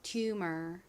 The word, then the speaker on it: tumor: T는 T 소리 나고 이 UMOR 부분은 U가 U 소리, M이 미음 소리, ER이 소리 나서 tumor이라고 발음합니다. tumor.